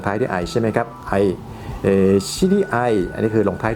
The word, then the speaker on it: 場合: กัน พวก เนี่ย ครับ เวลา ผสม คำ นะ ครับ ก็ จะ อ่าน ว่า ไอ้ ไอ้ ไอ้ เพราะ ฉะนั้น ก็ เป็น ที่ มา ของ คำ ตอบ นะ ครับ ว่า ที่ ถูก ต้อง ก็ คือ ว่า เป็น ไอ น่ะ ไอ้ ไป ได้ ถูก ต้อง นะ ครับ